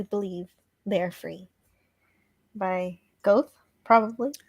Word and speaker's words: Goethe: By Goethe, probably. Goethe.